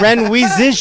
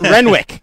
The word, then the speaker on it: Renwick: does it still not repair and it's not Ren wheezes you kick its Renwick Renwick yes languages misc yeah dude it's great to